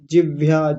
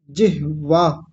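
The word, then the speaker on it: जिह्वा: तो ह आधा है तो ह को आधा ही उच्चारण करना है। वकार व पूरा है पूरा उच्चारण करेंगे। जिह वाह वाह की आवाज बाद में आए।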